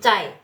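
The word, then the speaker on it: 在: Ini Cai ya. Kalau misalnya ZAI ini pinyin begini dibacanya bukan Zai ya, bukan ya teman-teman, tapi Z-nya diganti C ya.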